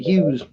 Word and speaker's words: Huegs: He pronounced it Hughes.